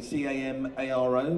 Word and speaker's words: Camaro: So if you're looking for something like a Camaro, which we would say C-A-M-A-R-O, that's how it's spelled. Americans say Camaro.